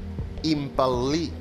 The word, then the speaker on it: impel·lir: La setena, impel·lir. Impel·lir. Fer moure empenyent. Impel·lir. Veig que heu captat l'ela geminada. D'impel·lir. Acaba amb R perquè això és un verb correcte. No es pronuncia, però s'escriu.